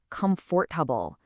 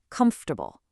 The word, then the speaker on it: comfortable: We completely swallow the O and the R in the middle. We do not say comfortable. We compress it into a smooth three-syllable word, comfortable.